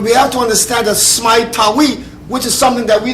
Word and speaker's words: Smai Tawi: Because Smai Tawi is when Ethiopia, Uganda, Somalia, Egypt was one powerful nation called Smai Tawi.